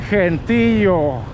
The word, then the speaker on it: gentío: Que gentío.